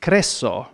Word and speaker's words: Croesus: It was Kreso for us. Was that it? I think it's Croesus in Greek.